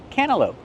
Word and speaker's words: cantaloupe: Well, when you have NT between vowels, you don't really hear the T. Cana. Cantaloupe.